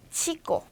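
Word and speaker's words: chico: 그 다음에 얘는 얘는 츠 소리가 나는데 츠하고 쌍지읒 소리 사이가 나요. 그래서 요거는 이제 알파벳에서는 빠지고 단어에만 남아 있는데 치꼬 꼬체 요렇게 발음을 해주시면 됩니다.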